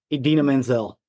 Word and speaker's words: Idina Menzel: I can't pronounce it. Idina Menzel.